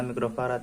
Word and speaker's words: mikrofarad: teman-teman yang buat si kapasitor ini mikrofarad Ini bacanya mikrofarad Ya nih mikrofarat ini 1,5 mikrofarat terus ini